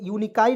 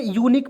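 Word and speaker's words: unique: पढ़ेंगे तो क्या पढ़ेंगे दोस्तों यूकाई नहीं पढ बहुत लोग यूकाई पढ़ लेता है दोस्तों गलत है क्यों क्योंकि आप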